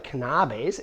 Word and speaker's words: Knabes: But before I turn it over to David, let me say a word about the Knabes, and yes, that is how you pronounce it.